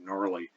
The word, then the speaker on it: gnarly: This is also true of gnarly, by the way, just in case you're curious.